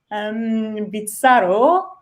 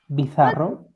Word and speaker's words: bizarro: Bizarro. Do I pronounce it right? Mm-hmm. Yes. Bizarro.